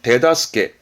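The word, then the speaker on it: 手助け: 발음은 데다스케.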